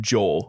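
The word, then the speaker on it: JEOL: this company at rapid joel yeah like like seoul south korea um but it's a japanese company and the company is spelled j-e-o-l um the the article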